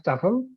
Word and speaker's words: TEFL: the tefl the Staple in short we pronounce it as tuffle so the TOEFL course